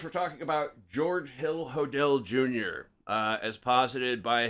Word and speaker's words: Hodel: talking about George Hill hodell Jr uh as posited by his son I like how SP pronounces it Hodel yodel yeah yeah let's call him Hodel uh Steve it's what